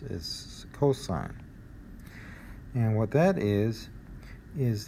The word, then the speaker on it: cosine: it's shortened to cos but don't call it costs is cosine and what that is is the adjacent side